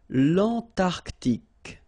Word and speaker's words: Antarctique: Remember, Q-U-E here, it's K. Okay, so tic. L'Antarctique, l'Antarctique.